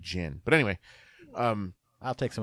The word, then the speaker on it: Ginn: who it's gonna actually I think it's pronounced Greg Ginn but anyway I'll take